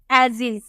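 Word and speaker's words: ages: एस का उच्चारण क्या करेंगे, आप इसे बोलेंगे एजिज। ये हमारा क्या है, एजिज, इसे हम बोलते हैं एजिज।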